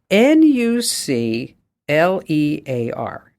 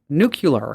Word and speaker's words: nuclear: Ally you ready yeah n u c l e a r n u l e a r how would you say that uh nuclear okay nuclear okay some people say nuc nucular nucular y I remember that exactly